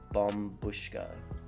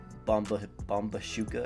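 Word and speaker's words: Bombushka: nine six laser expensive as bomb bushka yes that's how you pronounce it I used to pronounce it bomba bomba shuka or something like that and then everybody used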